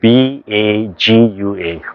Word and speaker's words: Bagua: Bagua or Bagua, sometimes they spell it P-A-K-U-A, commonly spelled B-A-G-U-A, Bagua.